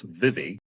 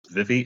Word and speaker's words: Vivi: So is your name Vivi or is it Vive? How do you say your name? Okay, I can go by many different monikers, but it's Vivi. That's Vivi in full. It's not short for anything.